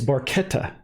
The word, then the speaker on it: Barchetta: my Italian words properly I'm told that it's barchetta in Italian so I guess we should call it red barchetta because that's the way you sings into the song but just technically Italians